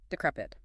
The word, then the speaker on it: decrepit: The stress here is on the second syllable. D K R E P. The vowels must be clear, avoiding the tendency to merge the first two syllables.